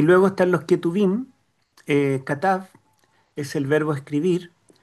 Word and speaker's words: Ketuvim: La T de Torá, la N de Nevi'im, que significa profetas, y la K o J, se pronuncia como J, son los Ketuvim.